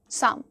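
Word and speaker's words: psalm: फिर बढ़ते हो काम साम साम of life P एस ए एल एम साम almond very good almond almond करते हैं लोग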